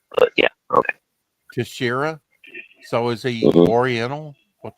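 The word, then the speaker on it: Texeira: Uh well, my probably uh a lot of people say Texaria. Mark Tesharia. It's Tashira. Yeah. Okay. Tashira.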